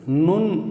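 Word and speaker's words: נ: அடுத்த எழுத்து அடுத்த எழுத்தை 14வது எழுத்து நுண் என்று உச்சரிக்கிறோம். இந்த நுண் என்ற எழுத்தை நாம் எப்படி எழுத வேண்டும் என்றால் இதே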